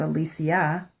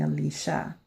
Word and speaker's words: Alicia: that they call me Alicia so I thought one day wow you know the word since you know some people do call me that the word rhymes with Alicia and I need to